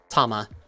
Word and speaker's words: Tama: zarat monkey and uh tama like thomas but without the s if i mispronounced any